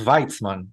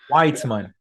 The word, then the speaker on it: Weitzman: The German way is exactly how it's pronounced in Israel. It is pronounced Weitzman, Ah, but American English, English uh, speaking, it's Weitzman. there we go. But in Germany and in Israel, it's Weitzman.